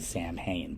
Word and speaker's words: Samhain: solstice feast halloween halloween was a memory of samhain you spell it s-a-m-h-a-i-n like samhain but you pronounce it samhain and it was a memory